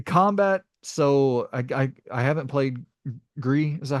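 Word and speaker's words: Gris: The combat, so I haven't played Gree, is that how you say it?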